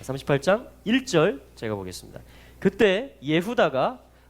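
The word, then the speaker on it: יהודה: 그때 예후다가, 유다를 히브리식으로 읽으면 예후다라고 합니다. 우리 한번 해볼까요? 예후다, 예후다.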